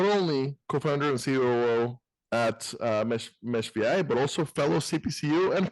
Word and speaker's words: meshVI: COO and co-founder at meshVI. I did verify on both the last name pronunciation, which I probably screwed up, and on the company pronunciation, it is pronounced meshVI, not meshV or mesh6.